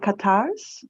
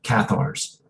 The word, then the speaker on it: Cathars: then with a female, how do you pronounce it, Catars? From the Catars in southern France or in France? But Cathars? sorry? Cathar. The Catars. Yeah. As far as I knew, they're called the Cathars.